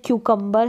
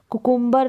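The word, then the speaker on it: cucumber: यहां पर जो है इसका प्रोनंसिएशन क्यू कंबर है कुकुंबर ना करके आप क कुंबर इसका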